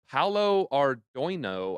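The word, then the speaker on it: Paolo Ardoino: Paulo Ardoino, I think is how you say it.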